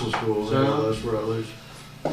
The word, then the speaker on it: Routledge: So- Yeah, Les Rutledge. Yeah. Is that how you pronounce his name? So, Les Routledge. Routledge, okay. Routledge, Les Routledge, yeah.